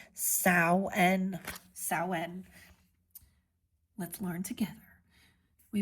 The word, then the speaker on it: Samhain: It looks like it says Samhain, okay? Samhain, but it's pronounced Samhain.